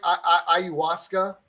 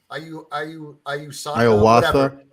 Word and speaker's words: ayahuasca: How do you pronounce it? Am I saying it right? Ayahuasca. Ayahuasca.